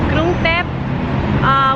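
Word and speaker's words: กรุงเทพ: Krung Thep, which roughly translates to City of Angels.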